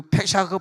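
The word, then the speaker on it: פסח: 근데 그 페샤크 파쉐크 그렇게 발음하는데, 이 페샤크라고 하는 발음은 넘어갔다. 다시 한번 페샤크 시작. 페샤크 할 때 독일어 하듯이 박 하듯이 이렇게 하는 거예요.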